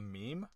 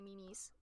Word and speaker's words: meme: A meme? Okay, I literally have a couple friends that say memes.